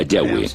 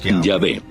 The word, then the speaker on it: Yahweh: De acuerdo con una de las explicaciones, Abraham conocía a Dios por su nombre más íntimo y personal, que normalmente se pronuncia Yahweh, Yahvé.